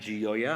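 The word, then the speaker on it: Gioia: with a poem by a poet named Dana gioya I hope I pronounced that right g-i-o-i-a the poem is called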